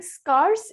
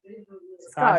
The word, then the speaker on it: scarce: But when you're saying scarce, it's scarce. Oh. Scars Scarce. means scars.